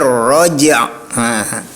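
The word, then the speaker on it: الرجع: Seharusnya cara membacanya wasama idzatir raj'. Itu bukan roj ya.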